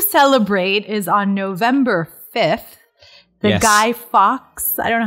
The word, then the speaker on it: Guy Fawkes: Maybe that's just how all Americans, I've never heard Americans pronounce it before, but it's not half person, half fox. It's Guy Fawkes.